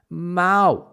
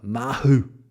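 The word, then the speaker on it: Mahou: pronunciation of that is ma ma exactly because the H in Spanish is silent my f my father when he comes pronounces it uh uh mahu of course never gets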